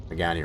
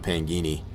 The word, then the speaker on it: Pagani: I know I was saying Pagani wrong. It's first for the longest time. I was calling it Pangini.